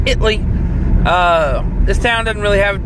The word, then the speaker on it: Italy: If you're from Texas, it's pronounced Italy.